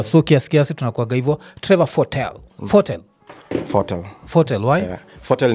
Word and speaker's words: Fotel: Me we pronounce Fotel. Fotel. But watu wengi usema Fotel.